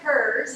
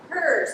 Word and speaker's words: Herz: my name is hers you pronounce it opposite of his for the last name hers opposite of his yes